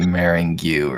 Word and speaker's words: Maringu: Morang. Yeah, but she pronounce it Maringu, right?